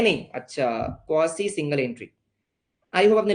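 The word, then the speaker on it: quasi: सर कौन सा है वो थर्ड, क्वासी आपने लॉ में पढ़ा होगा बेटा, कासी कासी बोलते हैं कुछ लोग, हाँ जी सर क्वासी, हाँ जो भी होते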